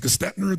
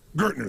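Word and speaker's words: Gerstner: And they brought in, I don't know how to pronounce his name, it was Gestetner, the gentleman who came in, who was like the major turnaround guy. What's his name? Gertner, thank you.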